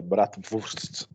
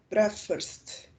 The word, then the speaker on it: Bratwurst: Você só errou a pronúncia do W, que é F, é Bratwurst. Furst. Furst. Bratwurst.